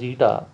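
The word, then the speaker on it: η: Coefficient of viscosity, and I will use this symbol eta, pronounced as eta, to represent this coefficient of viscosity.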